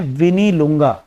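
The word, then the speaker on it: Mwinilunga: तो दरअसल ये स्थान शुरू होता है एम से, एम इसमें साइलेंट रहता है, तो हम ऐसे लिखते हैं एम विनी लुंगा।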